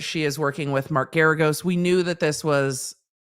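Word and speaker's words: Geragos: bkz she's working with Mark garagos not Gyarados I forget that porn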